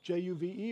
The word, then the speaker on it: JUVE: Is it J-U-V-E or is it Juve? No, it's Juve, if Juve. you pronounce it so German.